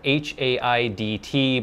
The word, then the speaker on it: Haidt: It's actually spelled H-A-I-D-T, but apparently it is pronounced Haidt.